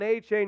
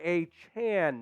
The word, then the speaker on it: Achane: you thought you knew it was Devon AJ no it's Devon a Chan now so and it